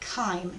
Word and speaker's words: chyme: Well, if you mix that with food, you get chyme, is how you say that word.